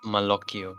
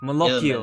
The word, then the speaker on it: Malocchio: Malocchio, Il Malocchio, Malocchio.